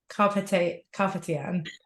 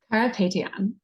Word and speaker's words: Carapetyan: I'm so thrilled to be joined today by Anna Carpetyan. Did I say it right? Carapetyan.